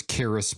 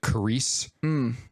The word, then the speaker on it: Karis: Her name was Karis, but she pronounced it Carice.